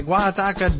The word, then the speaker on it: Guajataca: Okay, Guajataca Dam. That's the name for it. Thanks for providing the pronunciation, though I probably should have just tried it with my own Spanish pronunciation.